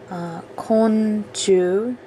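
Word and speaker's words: 昆虫: The scientific word for bug, insect, konchu.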